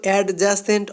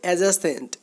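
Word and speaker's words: adjacent: অ্যাডজাসেন্ট টু এটার উচ্চারণ কিন্তু অ্যাডজাসেন্ট হবে না, এটার উচ্চারণ হবে অ্যাডজাসেন্ট।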